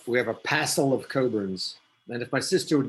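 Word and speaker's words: Cockburn: but not everybody knows it's pronounced coburn with a silent ck that's a scottish name and we've got scott here and sat on others to get it right and we actually have craig coburn on here also so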